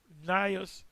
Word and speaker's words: Gnaeus: Gaius Julius Caesar, which he became the prominent head, Marcus Licinius Crassus, and Gaius, I believe this is silent, Gnaeus Pompey.